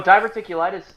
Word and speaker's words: diverticulitis: type of cancer yeah it does sound like diverticulitis you're all oh you you said it right obviously my friend here has an education oh diverticulitis oh is that what he said yes diverticulitis